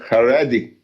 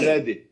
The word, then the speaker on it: Haredi: Haredi. What is Haredi. that? What does that mean? Haredi.